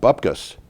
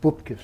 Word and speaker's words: bupkis: historic event, they got bupkis. Fossil fuel sector's talk of energy poverty fell on deaf ears. You got to pronounce that right. It's bupkis. Bupkis. Okay, It's Yiddish for nothing.